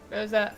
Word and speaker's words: Rosa: Rosa? Rosa. Oh, is that how you say it?